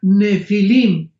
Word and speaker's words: nefilim: pH intermedia Ne pilim se pronuncia nefilim en el original hebreo esta palabra en su